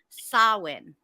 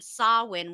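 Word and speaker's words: Samhain: with that being said it's sawin so the gelic word pronunciation sawin was the name of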